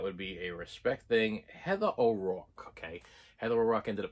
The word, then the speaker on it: Heather O'Rourke: Heather O'Rourke, okay?